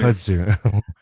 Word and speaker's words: kudzu: Kudzu. Kudzu? Yeah. My bad. Well, he pronounces it that way, but kudzu is the correct pronunciation.